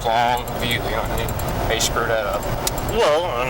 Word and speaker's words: Longview: Actually, I don't think I've ever heard anybody mispronounce Longview. It's kind of, it's two words, Longview.